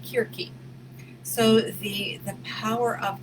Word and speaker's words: Circe: working with god is searsing or i just learned her real name like it's spelt c-i-r-c-e but it's ancient greek and it is pronounced kirki so the the power